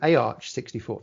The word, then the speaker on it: AArch64: architecture is going to be called arch 64. that is how you actually pronounce it by the way so